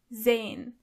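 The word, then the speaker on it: sein: verben to see is zane. Zane. As you can see, the letter S is not pronounced as S, but more like Z.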